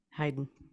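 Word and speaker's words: Hyden: name it is because Bigfoot is always heyen heyden yep all right hide and seek champion re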